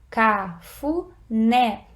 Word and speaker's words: cafuné: por exemplo, olha lá, cafuné. a sílaba tônica é a última e, nesse caso, além do acento tônico, né, que a gente já sabe que cafuné tem acento tônico no E, também recebeu um acento gráfico.